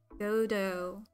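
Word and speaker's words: Godot: Oh, it's pronounced Godo.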